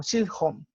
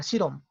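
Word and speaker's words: 시험: Porque, por ejemplo, no sé, examen, yo lo decía como Shilhom, ¿no? Shilhom. Y resultaba que no, que era Shirom. Entonces, pues hay una diferencia entre Shilhom y Shirom.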